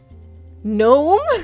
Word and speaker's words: gnome: really hungry kid um gnome maybe it was numb how did they know it was known with the silent G what do I want